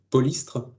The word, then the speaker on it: Polystre: focus sur un projet, Polystre. Alors, Polystre, en deux syllabes, c'est Pôle pour polyculture. Istre pour huître en breton, si je ne me trompe pas.